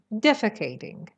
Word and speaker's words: defecating: rather than the the stresses on the first syllable defecating defecating defecating in the